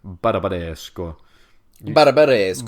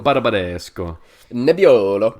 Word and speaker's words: Barbaresco: you just want to impress anybody, please do pronounce these things this way. Say Piemonte and Barolo and Barbaresco. Barbaresco.